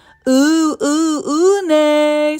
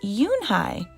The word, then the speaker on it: Unhei: Une, some kids chanted. No, Yoonhai corrected. It's spelled Unhei. It's pronounced Yoonhai.